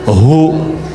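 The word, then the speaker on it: هو: Nah, huwa itu kalau kita ingin berhenti di huwa, maka A-nya nggak dibaca. Contoh ayat kursi Al-Baqarah ayat 255. Allahu la ilaha illa hu. Huwal hayyul qayyum tuh kalau nyambung, kalau berhenti di hu bacanya hu.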